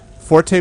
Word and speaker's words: forte: I have not played it good mod ni Forte with the accent the accent on the E